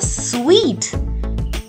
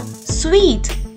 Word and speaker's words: suite: And this luxurious room in a hotel is called a suite. Say it once more, suite.